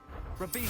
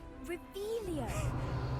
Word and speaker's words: Revelio: Rebellion. Saying it wrong. Ugh, Revelio.